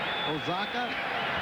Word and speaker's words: Oaxaca: balls one strike Vinnie Castillo's Hometown in Mexico Oaxaca so what what did you say it was Osaka you're not going to ask do you expect